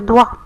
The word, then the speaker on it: doigt: Sur le doigt, aussi le mot doigt, on n'entend pas G. C'est une lettre muette.